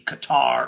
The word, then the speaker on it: Qatar: And so everybody's focusing in on the fact that oil money from the Qatar or cutter depending on how you pronounce it uh government paid